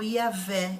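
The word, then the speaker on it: Yahweh: letra maiúscula na Bíblia mas o hebraico está pronunciado como yaveh e é construído da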